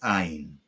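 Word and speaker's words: Ayin: toin drums this is Ain most modern Hebrew speakers pronounce it just like Al practice the handwritten version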